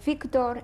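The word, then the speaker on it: Vigdor: How do you say it? Victor and Balcha.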